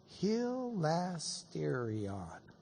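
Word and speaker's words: ἱλαστήριον: Let me pronounce that for you. Hilasterion.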